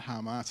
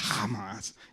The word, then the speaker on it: Hamas: I've been waiting for one of those commentators to ask me how you pronounce it, because that's the way you actually pronounce it. It's not Hamas, it's Hamas.